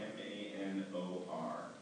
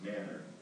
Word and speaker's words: Manor: Texas, in Manor, Texas, which is spelled M-A-N-O-R, and which most of the world would pronounce Manor, but this is Texas.